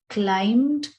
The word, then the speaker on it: climbed: tree don't forget that climbed is pronounced as climbed with a silent b ever since childhood she